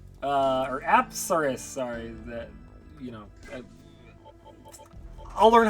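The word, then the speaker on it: Apsaras: So if we fuse Pixie and Kodama, we'll get Asparus. Or Apsaris, sorry. I'll learn how to pronounce the names eventually.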